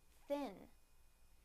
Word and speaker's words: thin: First, the n sound in the word thin, thin, thin.